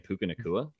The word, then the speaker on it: Puka Nacua: And just say I'm also taking Puka Nacua.